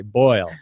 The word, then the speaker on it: boil: In my phonetic dictionary, there is just two vowels for you to pronounce that, like boil. But according to her explanation, you also have to add an extra vowel, like maybe a schwa sound. Instead of saying boil, you should add one more vowel, like boil.